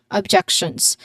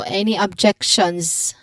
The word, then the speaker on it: objections: So there's the final S sound is pronounced as a Z as a Z sound because it follows a voiced consonant sound. So any objections any objections it's very